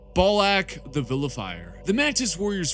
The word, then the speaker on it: Balak: Malevolent, and their champion, the man whose name literally rhymes with Ballsack. Balak the Vilifier.